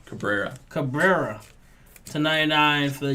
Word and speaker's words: Cabrera: Oswald Cobra how do you say his name Cabrera Cabrera to 99 for the Yankees yeah White